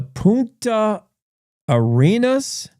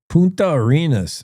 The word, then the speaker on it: Punta Arenas: The the Ponta Arenas. I better have Siri pronounce that as well. Puna Arenas. Punta Arenas.